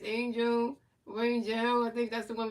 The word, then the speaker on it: Rangel: Yeah, Rangel.